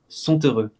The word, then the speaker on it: sont heureux: Normalement le T, on est censé ne pas le prononcer. OK ? Du coup, on transforme d'un T qui est silencieux comme je l'ai écrit à un T qui se prononce son heureux.